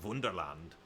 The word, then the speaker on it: Wunderland: Went to there's this place called Miniatur Wunderland in Hamburg, which is miniature Wonderland, but in German, pronounced like Wunderland.